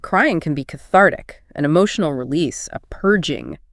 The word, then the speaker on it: cathartic: Cathartic. Cathartic stress onar. This one leans formal, though the speaker said she likes using it. Means releasing strong emotions, feeling better afterward. Like crying can be cathartic.